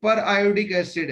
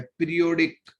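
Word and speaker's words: periodic acid: आप इसको पर आयोडिक एसिड बोलोगे, पर इसका स्पेलिंग वही है जो पीरियोडिक टेबल का होता है, पीरियोडिक, तो पीरियोडिक भी बोल सकते हो। ठीक है, पर आयोडिक एसिड बोलते हैं वैसे यहाँ पर पीरियोडिक टेबल की जो स्पेलिंग है वही इसी की है। ठीक है, पर उसको तोड़कर बोलो, पर आयोडिक, एक साथ बोलेंगे तो पीरियोडिक हो जाएगा।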